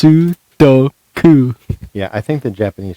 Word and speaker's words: Sudoku: 3 syllables. Ooh, oh, ooh. Sudoku. I was trying to get all of the vowels in there. It's just Japanese. Yeah. That's it, just Sudoku.